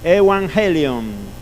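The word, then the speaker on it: εὐαγγέλιον: Bien, pero se pronuncia así, evangelion o evangelion, el evangelio, ¿sí?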